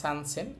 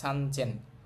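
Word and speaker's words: さんぜん: মানে দুই নিছেন 2000 সান মানে তিন হওয়ার কথা সানসেন কিন্তু এটা ব্যতিক্রম হবে সানচেন 3000 এই হাজারের ক্ষেত্রে তিনটা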